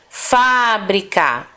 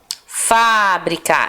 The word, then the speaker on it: fábrica: forte tá e aqui fábrica fábrica esse fa é a sílaba mais forte cadeira cadeira odeia é